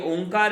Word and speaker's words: ओंकार: ओंकार का उच्चारण का भी एक ढंग है। सामान्यतया जो हम बोलते हैं, सामान्य चलन में जैसा बोला जाता है, वह इसका सही उच्चारण नहीं है। इसका वास्तविक उच्चारण तो ऐसा होता है जिसमें अ, उ और म तीनों ध्वनियां एक साथ होती हैं, तीनों ध्वनियां एक साथ।